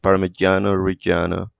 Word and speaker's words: Parmigiano Reggiano: In Italian it's pronounced Parmigiano Reggiano. uh, no, Parmesan.